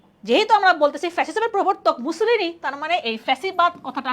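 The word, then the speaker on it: Mussolini: তাহলে যেহেতু আমরা বলতেছি ফ্যাসিজমের প্রবর্তক মুসোলিনি, তার মানে এই ফ্যাসিবাদ কথাটা আসতেছে কি? ইটালীয় ভাষা থেকে, ফ্যাসিওস উচ্চারণটা আমরা পড়ছিলাম, ঠিক আছে?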